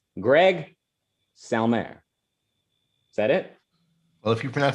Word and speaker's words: Salmieri: Oh, is it just Salmieri, like it's spelled out? Yeah, I just pronounce it like it's spelled. I'm not sure how actual Italians pronounce it.